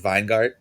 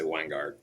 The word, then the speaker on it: Weingart: Is the W pronounced like a V? Is it Vinegart? Um, maybe in Germany. Um, here in the States we just say Wangard.